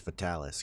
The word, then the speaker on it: Fatalis: It's Fatalis. Come on. That's how you pronounce it.